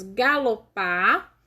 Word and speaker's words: galopar: E aí, ficaram falando as palavras galopar, cavalinho, canindé e líquido. Então, vamos ver aí. Galopar. Qual que é a sílaba tônica? É o par.